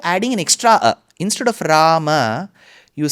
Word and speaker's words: Rama: aaram generally is lingum rama so that is wrong the north Indian pronunciation of Ram goindrish that is also wrong so it's neither Ram nor Rama it is Rama it is neither goind